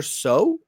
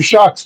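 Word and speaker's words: Shough: James, first one being a quarterback, Tyler Shaw. Shock. You'd be shocked on how it's pronounced.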